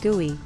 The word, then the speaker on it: GUI: To access the unit calibration procedures, open the device graphical user interface (GUI), pronounced GUI, on the unit.